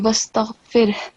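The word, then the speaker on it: واستغفره: So it will be wastaghfir. Okay? Make sure that the sound of ha is clear and you don't just stop at ra, wastaghfir.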